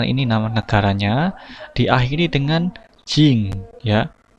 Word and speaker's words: 人: Jadi nama negara ya, polanya adalah ini nama negaranya diakhiri dengan jing ya. Tulisannya jin tapi bacanya jing ya.